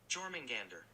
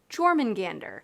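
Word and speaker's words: Jörmungandr: And I looked up how to pronounce this word and I already forgot. So it is Jormungandr. Jormungandr, which is the serpent from Norse mythology, Jormungandr.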